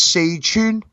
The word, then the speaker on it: Sichuan: 3 times a Szechuan. See, I don't even know what does that even mean, Szechuan? It's so in Chinese, Sichuan is actually the way it's really supposed to be pronounced.